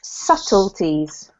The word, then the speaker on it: subtleties: with this one is subtleties smooth juice so it's a silent B so ignore the B and its subtleties subtleties yes perfect this